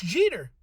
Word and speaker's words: Jeter: Mitch Jeter, last name spelled and pronounced just like Derek Jeter.